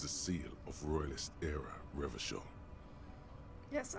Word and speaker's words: Revachol: It is a seal of Royalist era Revachol. Yes, I know I pronounce the city differently, but it just, with this spelling, it feels so much better with the hard CH to me.